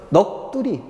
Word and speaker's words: 넋두리: 그래서 시옷 날리고 기역 발음하면 되죠. 넋두리.